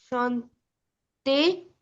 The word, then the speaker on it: chantez: chantait, nous chantons, vous chantez, ils chantent. il chante. Il The chante. first, second, and the last one chante. Chante, chante, chante, chanton, chantin, chante. Only nous et vous are pronounced at the end.